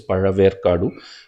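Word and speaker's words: Pazhaverkadu: Okay, this ZHA is pronounced as Ra. Okay, Ra. That maybe people who are not in the south, maybe they cannot tell that, but it is Paraver Kadu.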